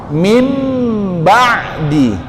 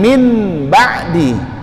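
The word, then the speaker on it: من بعد: Mim ba'di, tetap ditahan bacanya, ya. Mim, jangan min ba'di, tapi suara nunnya dihilangkan diganti ke suara mim.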